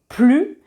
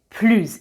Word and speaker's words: plus: Vite, c'est un adverbe, donc on dit plus vite. On ne prononce pas le S. Plus vite. Je fais les choses plus efficacement qu'avant.